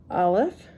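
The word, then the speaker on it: אָלֶף: Aleph is silent, without a vowel. We'll talk about vowels a different time because that is interesting. So Aleph is silent without a vowel.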